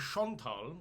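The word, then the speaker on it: Schöntal: in the town of Chantal which is the it's probably pronounced because it's s-c-h where with an um loud n-t-a-l and that's in bottom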